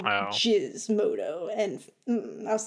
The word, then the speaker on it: Gizmodo: they're like, no, that's Jizz. And I'm like, what the fuck? They're like Gizmodo. I'm like, no, that is a hard G. It is always Gizmodo.